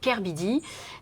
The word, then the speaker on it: K/Bidi: Donc moi, c'est pour ça que quand les gens me demandent comment on prononce, je leur dis on prononce Kerbidi.